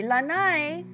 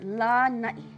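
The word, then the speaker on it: Lānaʻi: Molokai the next Island make sure you don't see Lanai it's not the outside of your house where you go Cruise your deck or your porch it's La night so long ah at the beginning and then okina at the end next Island one more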